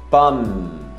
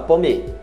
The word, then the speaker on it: pomme: Pomme. Você não fala pomme. Pomme. É um M mais longo.